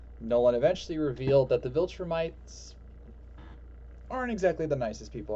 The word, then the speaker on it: Viltrumites: So, Nolan, as his birth name, is from a planet with a species known as Viltrumites.